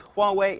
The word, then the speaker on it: Huawei: look at that how would you think you pronounced that if you don't have any idea like I didn't it is Huawei and they are hoping